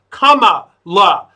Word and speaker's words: Kamala: Her name is pronounced Kamala.